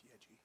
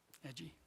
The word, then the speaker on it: Yeji: It's spelled wrong. It's Yeji. Edgy. Yeji.